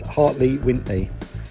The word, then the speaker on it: Hartley Wintney: So the pronunciation you're looking for there, Dino, is Hartley Wintney.